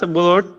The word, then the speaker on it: blood: as the venomous blood crosses the sword blade. ব্লাড শব্দটা কখনো পড়োনি? ব্লাড, উচ্চারণগুলো ঠিক করতে হবে তোমার।